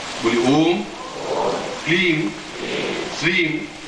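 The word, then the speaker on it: क्लीं: जाग्रय महामृत्युंजय ह्रीम श्रीम क्लीम फट। इसमें प्रत्येक में म ध्वनि आई है, जानते जैसे क्लीम श्रीम रीम। और जिनको नहीं आता अंग्रेजी में लिख के भी टांग देंगे कि उच्चारण कैसा होना है।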